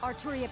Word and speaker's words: Artoria: same dub voice for saber here hasn't she pronounced it like this splendid for this night arturia pendragon accepts your challenge and if you know